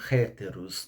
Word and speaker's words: héteros: outro como ele não héteros não héteros a gente aqui lê héteros né porque aqui o h ficou mudo e a gente a gente lê héteros mas se fosse pronunciar no grego seria héteros dois o paracleto né